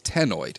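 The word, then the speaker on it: ctenoid: shape of scale is Teno CT n o i d the C is silent like in nideria Teno scales the scales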